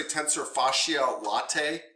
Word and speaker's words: tensor fasciae latae: the tfi one the tfl one yeah tensor tensor fasciae latae that's the way i was told to pronounce it i've heard some people say it